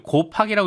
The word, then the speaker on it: KOHPAK: 그랬더니 유튜브에 KOHPAK님 뭐라고 고팍이라고 읽으면 될 것 같아요.